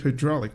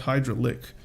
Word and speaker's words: hydraulic: It's supposed to be hydraulic, not hydralic.